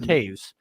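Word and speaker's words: Toews: It's pronounced Taves.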